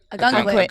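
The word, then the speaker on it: Ogunquit: How do I pronounce it again? Ogen quit. A gun quit.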